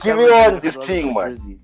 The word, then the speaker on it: Giveon: Giveon. Giveon. That should be an A, shouldn't it? No, it's you spell it Giveon. You know what's wild about this thing is a Giveon. It's a Giveon.